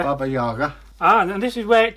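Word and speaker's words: Баба-яга: First syllable of the second word should be around similar to German jar.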